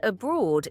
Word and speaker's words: abroad: The word abroad is pronounced abro. Stress the second part.